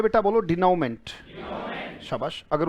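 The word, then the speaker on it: denouement: मेंट भी कह सकते हो, मंट भी कह सकते हो, मर्जी आपकी. मंट ब्रिटिश है तो मेंट आपका अमेरिकन हो जाएगा. बोले डिनोमेंट का मतलब सबसे अगर कॉमन शब्द लेना चाहो तो एंड होगा बेटा.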